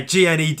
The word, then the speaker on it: Gned: yeah, Gned. Yeah, the G is silent though because he's a gnome, and you know nothing